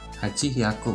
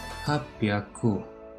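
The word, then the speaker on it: はっぴゃく: Dan di sini saya mau sebutkan 8 ditambah bilangannya 100 penyebutannya, jadi hachi hyaku, bukan seperti itu, tapi hachi-nya ini dihapus, ininya dirubah menjadi pyaku, jadi hapyaku.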